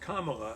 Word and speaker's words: Kamala: the way it's pronounced kamala like as in communist just in case you need to remember that first syllable and also because the